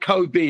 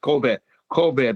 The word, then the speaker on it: Kobe: What's called Kobe is actually pronounced corbear beef.